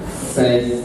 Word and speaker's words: seize: Tell your friend, seize the opportunity. I'm seizing the opportunity. Sasa napaka na shida hii matamshi ya S na Z. That is to grab the opportunity. That is S-E-I-Z-E.